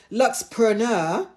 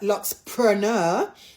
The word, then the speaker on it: Luxpreneur: I've actually been told to pronounce it Luxpreneur. Not not preneur, Luxpreneur.